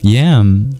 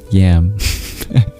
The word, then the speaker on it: yam: which happened to be yam. Although it's not pronounced like that despite it being spelled yam.